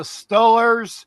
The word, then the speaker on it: Steelers: Baby, it's the Stillers. You need to know how to pronounce the name in Western Pennsylvania.